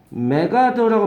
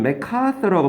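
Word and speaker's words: MacArthur: 이거는 메카서라고 발음해요. 미국 가서 메가더라고 하면 못 알아들어. 메가더 장군 알지, 니네? 인천 상륙작전 때 이 미군 사령관 있잖아요. 아. 이 메가더 장군이라고 하는데 아더라는 성을 가지고 있었던 거고요. 원래 선조가 메가더란 말은 아더라는 사람의 후손이라는 뜻이에요. 발음은 이 C 발음이 A랑 합쳐져 가지고 카가 되는 거. 메카서예요. 메카서. 못 알아들어요, 미국 사람들. 메가더 그러면. 예.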